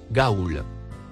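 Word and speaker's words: غول: mot en surbrillance bleu se prononce Gaulle nous lisons sur ce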